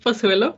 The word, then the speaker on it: Pozuelo: are yes yes yes sir you very well pronounced and said my name is pasuelo and i'm actually spanish so i was